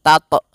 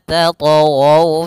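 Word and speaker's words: تطغوا: Hati-hati membacanya, jangan sampai membaca dengan adanya hamzah, jangan tato, tapi dia alla tatghaw fil mizan, mengalir saja.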